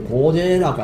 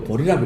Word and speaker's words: 보리: 보제라고 아니고 보리라고 읽습니다. 불교용어는 보리라고 읽어요.